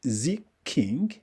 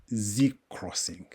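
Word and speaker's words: ZXing: z thing for British some call it Z king or Z King but I personally call it Z Crossing it's data capacity can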